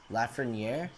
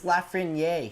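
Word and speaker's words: Lafrenière: what's left from here la franiere dude that's south america it's lafrin yay he's french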